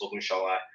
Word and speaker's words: Ogunsola: My last name, you guys might not can't pronounce it, but my last name is Ogunsola. It's Ogunsola. So if you search up